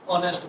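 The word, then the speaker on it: honest: আর ডিসঅনেস্টের বিপরীত হচ্ছে অনেস্ট, সুতরাং হি ইজ এন অনেস্ট বয়। এখানে ডিজের কারণে এ হয়েছে। যখন আমরা অনেস্ট লিখবো, প্রথম অক্ষর এস এর উচ্চারণ হয় নাই, সেই জন্য আমরা কি এন লিখবো।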